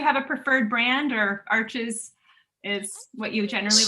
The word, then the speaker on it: Arches: get in the sheet, like Arches has, I guess you're supposed to pronounce it Arch. I always say it wrong.